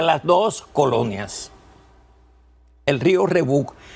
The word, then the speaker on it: Rebouc: El río Rebouc se escribe Rebouc y se pronuncia Rebouc.